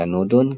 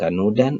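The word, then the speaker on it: كَنُودٌ: Jadi kita membacanya sebagai ' kanudun' karena itu adalah isme dari 'inna ', bukan dibaca sebagai 'kanudan' atau 'kanudin'.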